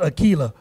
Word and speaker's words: Aquila: called, instead of Aquila, I used to pronounce it Aquila until I got a little more educated and I understood that. No, it's Aquila. Not like tequila, you know.